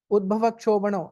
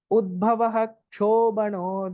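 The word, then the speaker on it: उद्भवः क्षोभणः: You should not say the way I said it first. Udbhava kshobano. No. Udbhavaha kshobano deva. You have to give a small pause.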